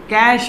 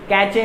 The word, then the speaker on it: cache: देखिए अब कैश memory क्या होती है, CACHE, कैचे मेमोरी भी कुछ लोग कह देते हैं। मेरा एक मित्र था कैचे मेमोरी कहता था, पर इसको कैश मेमोरी बोला जाता है। इसकी जो प्रोनाउंसिएशन है वो कैश मेमोरी है।